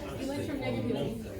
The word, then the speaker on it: electronegativity: Electronegativity.